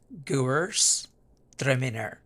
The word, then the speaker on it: Gewürztraminer: குவர்ஸ் த்ரெமினர். அந்த வார்த்தையை ரெண்டாக பிரித்து நடுவில் ஒரு கோடு போட்டிங்கன்னா முதல் பகுதி வந்து குவர்ஸ், ரெண்டாவது பகுதி வந்து த்ரெமினர் அப்படின்னு இருக்குது. 2-3 தடவை ட்ரை பண்ணால் ஈஸியாக ப்ரொனவுன்ஸ் பண்ணலாம்.